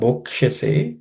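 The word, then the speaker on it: भोक्ष्यसे: Bhokshyase, here bho is aspirated.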